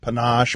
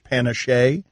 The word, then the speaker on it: panache: was on PTI I called it instead of panache Panna chay they still make fun of me there's a